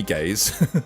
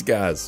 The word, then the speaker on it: Gaz: not hom homophobic but don't call me gays it's Gaz or Gaza so then